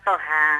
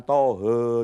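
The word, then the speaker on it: طه: terir dari sekian ayat Surah Thaha bacanya Thaha jangan tohe jangan loh ya ya Toha ya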